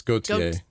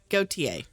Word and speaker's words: Gautier: You had it right the first time, yeah. Oh. It's Gautier. Go TA.